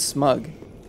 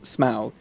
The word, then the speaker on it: Smaug: I think I said smug. Smog! No, I said smog. Which is not how you pronounce Smaug.